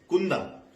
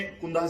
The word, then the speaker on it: Cunda: है वो है CUNDA, तो इसको कुंदा प्रोनाउंस करे या चंद प्रोनाउंस करे, ये पाठकों ने अपने आप से पूछना चाहिए। CUNDA तो मैंने स्पष्टीकरण के लिए कुंदा यूज किया है, ये चुंद भी हो सकता है या चंद भी हो सकता है।